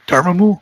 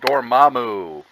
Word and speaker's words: Dormammu: Dormammu? Dormammu.